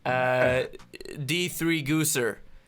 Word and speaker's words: D3gausser: So we're going to talk to the man, the myth, the Destiny legend, D3gausser.